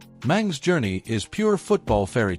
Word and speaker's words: Mang: Say hello to Maxmillian Mang. Yes, that's pronounced Mong, not Mango, though I'm sure he's heard every fruit joke already.